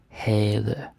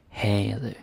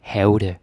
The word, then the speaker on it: havde: Havde, right? Damen havde. The V is not pronounced. You don't say havde, or havde, or havde. I can't even say that. We don't say that, okay? havde.